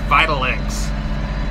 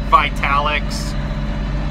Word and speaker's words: Vitalix: of i think it's vital x it looks like vitalix but i think it's pronounced vitalx anyway it's a 250